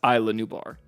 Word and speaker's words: Isla Nublar: in the next video oh inside is la new bars pronounced Isla Nublar some of you would